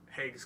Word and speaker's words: Hague: It's Tim Hague. Hague.